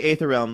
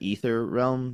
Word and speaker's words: Aether Realm: So you can say aether realm. That's what we usually said for years. I've always said ether realm just cuz that's how I learned that word. But like I know that aether is also acceptable. So both are fine.